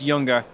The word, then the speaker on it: Junger: German company so the the J is pronounced as a y so yes it's younger younger audio great and so